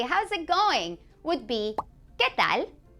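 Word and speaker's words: qué tal: it going would be ketal now that U is silent so do remember that in this case when it's between a q and a vowel U is silent so you're gonna say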